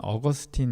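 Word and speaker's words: Augustine: 깊이 생각했던 사람을 꼽으라면 아우구스티누스 라고 하는 사람 을 꼽을 수 있어요 영어 발음으로는 업 어스틴 으로 여러분에게 알려졌을 텐데요 아마 그 이름이 더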